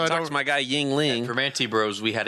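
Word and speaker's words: Yuengling: Yingling. Yingling. He's saying it like it's a first and last name. Ying and Ling. Yingling. So I talked to my guy Yingling.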